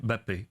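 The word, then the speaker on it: Mbappé: So Kylian Mbappe. It's almost like a B, basically.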